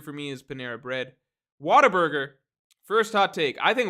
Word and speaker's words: Whataburger: plenty of Whataburger also people say Whataburger like Whataburger it's it's supposed to be pronounced what a burger it just comes out Whataburger so I think partly